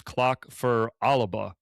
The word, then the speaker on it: Clach Fear Alba: Well, we're we're sitting down to talk about clock for Alba. And uh you were telling me the the proper pronunciation is clock for Alaba.